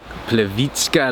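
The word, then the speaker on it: Plitvice: We are at Plevitska Lakes, or as the Americans say, Plivich Lakes.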